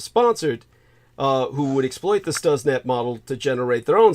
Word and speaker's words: Stuxnet: It's spelled Stuxnet. Like you would think it'd be pronounced Stuxnet, but it's pronounced Stuxnet. And that's a sophisticated computer